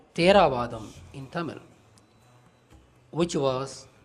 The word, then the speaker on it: Theravada: Hence, being Tamil word, Theravada should actually be pronounced as Theravada.